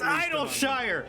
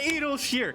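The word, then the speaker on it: Idyllshire: reinforcements edelsher's treasure ant no it's idle shire it's not edel sheer it's idle shire i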